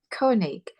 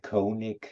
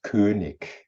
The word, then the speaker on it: König: Mostly when I'm in the UK, they all say Koenig. The right way to pronounce it is König.